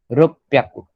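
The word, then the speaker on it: 六百: Pronounce 600 रुक प्याकू, double P.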